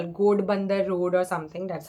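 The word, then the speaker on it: Ghodbunder Road: It was in what do you call, Godbandar Road or something. That's how the place is pronounced.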